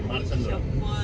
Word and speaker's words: Marsandra: मारसंड्रा मध्ये हा संद्रा नाही हो संद्रा Sandra. Okay, Marsandra. Okay ना ठीक है ना हम लोग का प्रोनाउंसिएशन गलत हो सकता है ना.